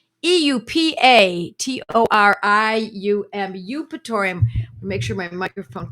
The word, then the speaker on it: Eupatorium: So the name of the medicine is Eupatorium. Eupatorium. Eupatorium. Make sure my microphone can hear me. Eupatorium. Eupatorium. Eupatorium. The E is silent, and the second word is perfilatum.